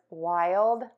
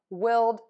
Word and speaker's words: wild: The question today is, how do I pronounce the words wild, mild, and child?